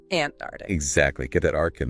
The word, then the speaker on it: Antarctic: You need to hear that k sound after the first t. Antaric, not antarctic.